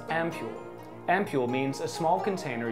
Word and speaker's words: ampoule: this word is pronounced as ampule ampule means a small